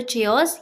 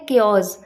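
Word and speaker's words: chaos: अब देखिए इसे बहुत से लोग गलत प्रोनाउंस करते हैं। इसे बहुत से लोग बोलते हैं या तो चिओस या फिर चाओस। जो भी बोलते हैं गलत ही बोलते हैं। करेक्ट प्रोनाउंसिएशन इसकी होती है केओस।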